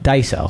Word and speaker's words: Daiso: to do the next dieso Daiso that's how you say it roll Daiso they all